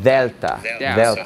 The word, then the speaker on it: delta: So this letter is delta, and it is basically pronounced like the TH in the word the, okay? If you speak Spanish, you're probably used to pronouncing the D's in this way.